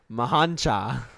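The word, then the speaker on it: M'hancha: pronounce this one either mahancha from morocco no you nailed it i think it's actually m apostrophe hancha uh it's um let's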